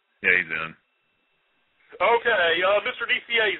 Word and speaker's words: Nicieza: is he in yeah he's in okay Mr DCA how are you hey Victor how are you I'm real good did I pronounce your name right you've pronounced it perfectly